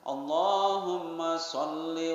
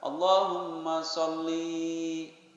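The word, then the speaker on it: اللهم صل: perlu belajar diperbaiki Hai makan enggak boleh panjang dan Allahumma sholli wasallim dipanjangkan Allahumma sholli panjangkan shopee-shopee panjang soalnya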